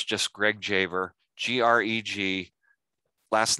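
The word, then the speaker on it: Dziawer: And it's just Greg Javer, G-R-E-G. Last name, D-Z-I-A-W-E-R, pronounced Javer, old German-Polish phonetic spelling of my family name before it got changed at Ellis Island, in case you're wondering.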